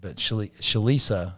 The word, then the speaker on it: Shalisa: Schneider does the men, but Shalisa is how you pronounce it.